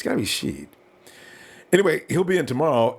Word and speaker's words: Shead: I think it is Shead. It makes sense. It doesn't make sense to call him Shed. So it's got to be Shead.